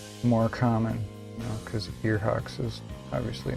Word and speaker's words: Ear Hawks: Mine's pronounced ear hawks. Ear like ear, and hocks like ham hocks.